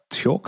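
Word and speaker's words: Tchort: on rhythm guitar uh torque i think it is pronounced t-c-h-o-r-t short on bass guitar and faust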